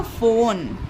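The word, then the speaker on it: phone: और ओ के लिए ओ की मात्रा लगा दी और एन, एन से हमारा ना हो गया और ई यहाँ पर साइलेंट होता है। तो ये हो गया फोन।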